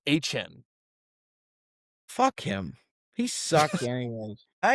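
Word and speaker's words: Achane: He came out and said that we've all been saying his name wrong since college, and it's actually pronounced Achan.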